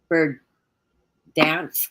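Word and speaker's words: Berdyansk: of questions is the port of bird dansk i guess is how you say it's b e r um d y a n s k and that is the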